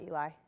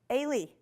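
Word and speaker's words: Ely: Wildlife Research Institute in, anybody know how to pronounce it? It's not Eli. It's like Ailey.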